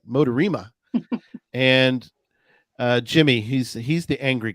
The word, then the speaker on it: MoDaRiMa: I think back in the day I said the Motor Rhyme or something. That didn't sound right. Motorima.